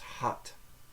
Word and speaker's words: had: second word had is spelled exactly the same h a d but it's pronounced hot so had is pronounced